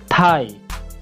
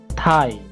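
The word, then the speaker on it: thigh: এইচ আই জি এইচ থাই এখানে জি এর উচ্চারণ হবে না অর্থাৎ এটার উচ্চারণ হবে যে থাই থাই থাই এর অর্থ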